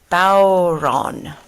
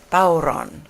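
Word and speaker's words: bodhrán: it's spelled the traditional irish drums and it's pronounced bauron bauron which is it's an interesting way to say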